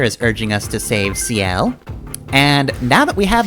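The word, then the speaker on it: Ciel: And, yep, this is CL, whose name I'm actually going to pronounce correctly this time around. Unlike the original LP, where I pronounced it Seal. But no, that is, French for sky.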